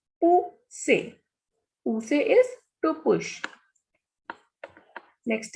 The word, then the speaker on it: pousser: Next is pou, who, ser, say. Pousser.